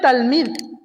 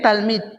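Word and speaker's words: תלמיד: Y el equivalente en hebreo es talmid, ¿sí? En hebreo, en griego. En hebreo es talmid. Talmid.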